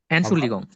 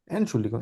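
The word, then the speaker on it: Entschuldigung: type করি আর কি এটাকে কিভাবে বলবো এনশুল লিগং এন শুল্লিগং এক্সাক্টলি এভাবে যেভাবে আছে এনশুল লিগং তো এখানে ই এনটি কে আসলে এন বলা হয় এবং শুল্লিগং এস সে হাউ এল এনসুল লিগ ঠিক আছে কিভাবে বুঝা গেল এনশুলং উচ্চারণ করতে হবে মানে হচ্ছে এক্সকিউজ মি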